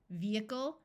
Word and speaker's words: vehicle: long Messiah and du there are some other words where H is silent in the middle such as vehement vehicle and prohibition note that the